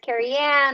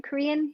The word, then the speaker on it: Carrian: pronounce my name either it's carrie anne it looks like you say everyone always says oh are you korean no i carry on so i'm sorry jennifer